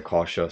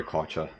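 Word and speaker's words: Kärcher: I say Karcher, some people say Karcher, but anyway, I digress.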